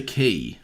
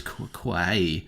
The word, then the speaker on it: Quay: He gets his $25, and he heads over to the Winter Key. I know you were going to pronounce it as Quay.